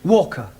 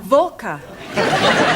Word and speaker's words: Walker: Walker. What? W is pronounced Your employer's name is Walker. Yeah, Volker.